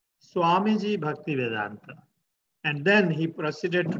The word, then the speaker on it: Bhaktivedanta: When I introduced him to my class, he said, Swamiji Bhaktivedanta.